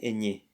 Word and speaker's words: ñ: No, ene, eñe.